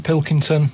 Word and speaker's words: Pilkington: why just just the Pilkington they can't they can't say it I don't know what's wrong it's so easy it's spelled as it looks yeah uh man just